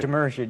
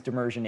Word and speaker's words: Demirjian: Demirjian, yes. Demirjian. You have a very difficult time. Yeah. You picked the two people with the hardest last names to pronounce to interview today. My last name is Demirjian, Demirjian.